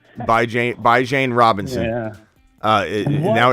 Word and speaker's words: Bijan: You got to say it right. It's not Biaja. I know how to say Bijan. It's not Bijan. He said Bijan the other day. Bijan Robinson. I said Bijan.